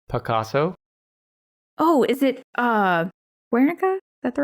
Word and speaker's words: Guernica: what is it Picasso oh is it uh wernicka that the right one yeah this yay is that how you say it yeah Guernica yeah that's interesting that's that's one of the